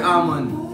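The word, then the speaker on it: almond: Beater ammond kasi yung silent L yon parang sama.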